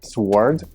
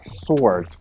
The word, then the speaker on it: sword: як вимовляється це слово вимовляється воно доволі незвично це не суворід а Sword тож чому liebsabor світлова